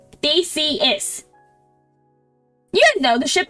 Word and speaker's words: Theseus: big words the ship of Theseus is my favorite analogy it's not a big word it's just Greek it's three syllables they see is you didn't know the